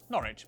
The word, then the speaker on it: Norwich: stir Lester Worcester Gloucester w at the start of the final syllable is silent Norwich Berwick subuk ER is